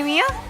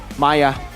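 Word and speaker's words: Miya: Oh, do you play Mia? Maya. I play Zeilong. So apparently we pronounce Mia Maya now.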